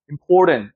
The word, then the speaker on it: important: 힘줘서 턴트라고 읽으면 절대 안 돼요. important. 쭉 올라갔다가 어떻게 되죠? 하고 이렇게 내려오는 거죠.